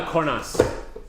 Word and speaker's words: Cornas: We're on the cornas. Nice. There you go. Love that All right. Okay. Okay. No. Corna. You don't pronounce the S.